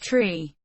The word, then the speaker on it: three: standard english being pronounced tree four five and niner the digit 3 is specified as tree so that it is not pronounced shri the long pronunciation of